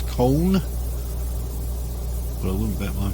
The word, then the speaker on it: Köln: I think the German pronunciation is Köln, but I wouldn't bet my pronunciation's correct by any means.